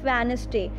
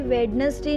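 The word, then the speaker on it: Wednesday: Okay, first one is Monday and then ट्यूसडे and next वेडनेसडे। Listen everyone, D is silent hair. हम कभी भी वेडनेसडे नहीं बोलते हैं, हम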